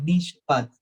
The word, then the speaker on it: mishpat: original, podemos decir que esa palabra justicia es mishpat, así se pronunciaría en hebreo, y según Dios mismo lo exige en la ley, esto es, ser justo y equitativo con nuestros semejantes.